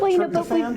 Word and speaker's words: tryptophan: But tryptophan? Did you say tryptophan?